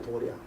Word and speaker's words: 도량: 도량. 도장인데 양으로 발음하죠.